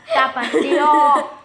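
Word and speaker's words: Tapatío: we're gonna add Tapatio on it. Too. Yes, we're gonna. The way you say it, tapatio. Yeah. Tapatio. I'm not Mexican. The real Mexican way is tapatio.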